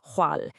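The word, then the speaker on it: 闊: This one is pronounced hwal, and it means wide.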